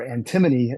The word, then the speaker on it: antimony: but the the antim antimony or antimony as some people pronounce it is the war metal